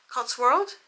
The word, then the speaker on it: Cotswold: Cotswold? World. Wold. Why? That's the name, the area. But is it a world though? No, Wolds. So there's no R. No, Cotswold. it's an S on That the is end.